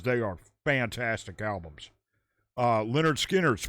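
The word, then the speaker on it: Lynyrd Skynyrd: Uh Leonard Skinnard's pronounced Leonard Skard.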